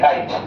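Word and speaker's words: kite: तो काई लिखे काइट। के आई टी ई काइट। देखो लास्ट में ई आ रहा है ना लेकिन बोलते क्या है काई टी है ना तो काई यानी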